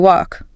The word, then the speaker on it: walk: Practice saying it as you walk. I am walking. Notice the L is silent.